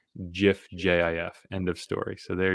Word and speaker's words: GIF: pronunciations they are wrong it is a soft g soft g i thought i always thought that was a hard g a soft g pronounced gif jif end of story so